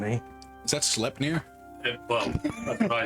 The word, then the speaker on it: Sleipnir: Is that Sleipnir? Well, that's what I said, but I'm Where sure. my brain went. Knowing Ravik, it's probably Sleipnir. It's actually Klepnir. The S is silent.